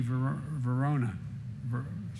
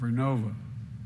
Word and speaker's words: Vernova: Arcosa makes wind towers that's going to go into turbines made by GE Vernova. I mispronounced it. Vernova in Florida, New York.